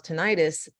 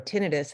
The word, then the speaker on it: tinnitus: they have pulse miles tinnitus or tinnitus however you want to pronounce it um then you want